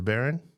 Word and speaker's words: Barron: Is Barron? Is that how you say it though? Jordan Barron? Yep, Jordan Barron.